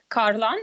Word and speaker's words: Kharlan: Yeah, so my name is Oleksandra Kharlan, Kharlan, as they pronounce it in Sweden.